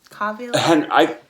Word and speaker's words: Cavill: Is that how you pronounce his name? Cavill? Henry Cavill. That guy, Isabel. Henry Cavill. Because of the bill, yeah.